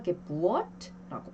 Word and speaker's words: Geburt: 이것은 예외적으로 길게 발음을 해줘요. 그래서 Geburt라고 발음을 합니다.